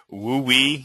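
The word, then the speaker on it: WUE: witchy this is the Western undergraduate exchange pronounced uh wooe that's exactly what it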